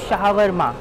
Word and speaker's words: shawarma: অনেকে এটাকে শাওয়ারমা বলে, কেউ শর্মা বলে, বাট এটার অ্যাকচুয়াল প্রোনাউন্সিয়েশন কিন্তু শাওয়ারমা।